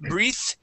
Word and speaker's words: breath: yeah okay yeah just watch out for the e at the end that'll that'll let you know if you pronounce it breathe or breath okay um let's go